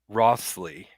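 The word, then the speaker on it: Wriothesley: the name of uh henry rossly it's spelled kind of weird it's like spelled like w r i o t h e i e s l e y or something like that so it's kind of a odd spelling but um the um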